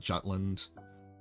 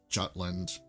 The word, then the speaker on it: Jutland: battle of the of I think it's pronounced utland before I used to call it Jutland I think in English it's Jutland I think in German they pronounce it utland for the English equivalent but this was the